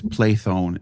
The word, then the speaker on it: Plethon: It's Plathone in Greek. It's Plethon. I did the ancient, maybe I some did the ancient word. English. You said you did the ancient. I pronounced it in ancient, and I guess I could be wrong about that because in 1450s they might have been closer to modern Greek than they are to ancient Greek.